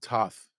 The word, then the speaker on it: Toth: Because somebody else called him Toth. I think was it Kelsey? Jason Kelsey? Yeah, it was Kelsey. Yeah. Yeah, interesting. He was only his teammate for 5 years. Yeah, Brett Toth.